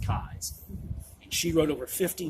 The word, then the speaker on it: Keyes: last name looks like Keys, but it is pronounced Keyes.